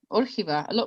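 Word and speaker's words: Órgiva: Yeah, well done, Orchiva.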